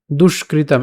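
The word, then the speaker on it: দুষ্কৃতাম্: দুষ্কৃতাম একসাথে উচ্চারণ করব। দুষ্কৃতাম ধর্ম সংস্থা ধর্ম সংস্থা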